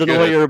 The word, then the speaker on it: Denoyer: Hey, I pronounced it like Henrique, man. I know it's Denoyer, but hey, I wanted to follow my man's footsteps.